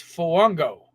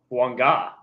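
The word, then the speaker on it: Fuaga: and number two actually no number three tiis Fango no no no no fanga fanga yeah he is out of I don't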